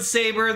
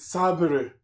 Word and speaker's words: saber: So we got the Road Saber, the Garage Launcher, and the Racing Bullet. And it really bugs me how he pronounces it sabre.